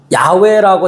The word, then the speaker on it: 야훼: 야훼라고 정확한 발음으로 이야기하는데 한글 성경에 여호와라고 돼 있으니까 편하게 여호와.